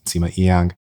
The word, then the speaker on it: Nsima: is just my name, Simma. Just a note for people, there's silent N in there.